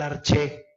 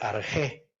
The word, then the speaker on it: arché: Cosmológico porque todos estos filósofos se preguntaban sobre el arché. También a esta palabra se dice arché. Si preguntamos, por ejemplo, cómo pronunciaríamos en Italia, se diría arché, ¿no? Porque arché resulta un poco complicado.